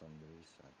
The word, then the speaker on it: sonrisa: I believe it's pronounced sonrisa.